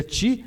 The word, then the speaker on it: qi: Ou ti, como diz a acupuntura, né? Ou seja, se escreve QI, né? Mas se pronuncia ti, é energia vital.